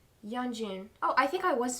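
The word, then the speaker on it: Yeonjun: Yanjun.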